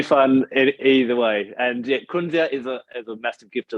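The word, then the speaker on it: Kunzea: It's known as kunzia.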